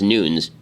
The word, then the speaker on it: Nunes: nuñez responding i guess i'm being told that it's not pronounced nunez even though everybody pronounce it that way it's actually pronounced Newton's I have no idea what that's true in any case Devin Nunes